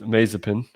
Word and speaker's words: Mazepin: We believe his name is pronounced Mazepin.